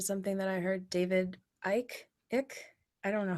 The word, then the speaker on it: Icke: This is all kind of tying into something that I heard David Icke. I don't know how to Ike is pronounce how people Ike.